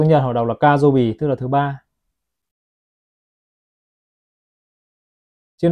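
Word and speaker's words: 火曜日: Trong tiếng Nhật họ đọc là Kajobi, tức là thứ ba.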